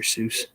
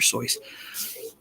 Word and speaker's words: Seuss: That's the actual way to pronounce it. Like Dr. Seuss, people think Dr. Seuss, but it's Dr. Seuss. He wrote a poem about it. It's pronounced Dr. Seuss.